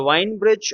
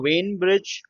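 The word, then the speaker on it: Wien bridge: So the winebridge or Wayne bridge however you want to pronounce it is kind of an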